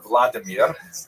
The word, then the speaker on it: Vladimir: What's uh especially important in its history is the conversion of one of its leaders pronounced in Russian Vladimir uh shown here in a statue overlooking the Dipro River that runs through the middle of cave.